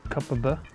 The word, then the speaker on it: Kopparberg: Locals pronounce it Kopparberg.